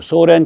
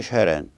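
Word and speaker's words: Søren: 예를 들어서 우리가 그 소렌 키에르케고르라 그러지만 그 쉐렌이거든요. 쉐렌. 그 의가 된 거, 의. 이거면 그런 발음이 나온다고요.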